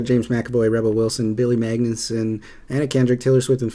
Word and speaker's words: Magnussen: Magnussen.